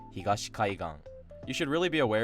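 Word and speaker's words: 東海岸: So, for example, if you take the word I just said, kaigan, and you add higashi before it, it doesn't stay flat, it actually becomes Higashi Kaigan.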